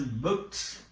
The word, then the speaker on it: booked: But here this is also, this do is pronounced as t. Here it is pronounced as booked. Booked.